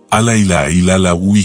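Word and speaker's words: لا إله إلا هو: En esta técnica se utiliza la repetición de una frase en árabe que se pronuncia de la siguiente manera, Ala ilaha illa Hua, que quiere decir, no existe Dios, Ala, excepto Dios, Ala.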